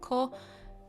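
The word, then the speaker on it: 木: So 2 kunyomi pronunciations, ki and ko. Don't worry, just learn ki for now. Just learn ki, it's okay. 2 onyomi pronunciation, boku and moku.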